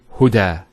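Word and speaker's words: هدى: are you next word now this is not actually a ya it's an alif it's called an alif maksura and it's exactly lucky that if the way it's pronounced it's like a yeah without the two dots so we say huda is the elongation as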